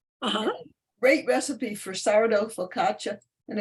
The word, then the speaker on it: focaccia: No, it's not a the focaccia. It's focaccia.